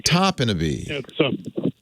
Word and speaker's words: Topinabee: Is it Topinabee, Michigan? Is that how you say it? Topinabee? Topinabee, Michigan. Topinabee. Yes, we're in northern Michigan.